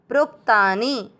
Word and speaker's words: प्रोक्तानि: प्रो में प्र का मतलब क्या होता है प आधा और र पूरा। प्र पर ओ की मात्रा प्रो के साथ आधा का प्रोक्तानी।